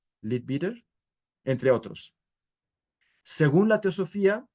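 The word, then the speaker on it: Leadbeater: estudios de anant y le bitter se pronuncia así l bitter entre otros según la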